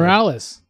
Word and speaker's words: Morales: Morales.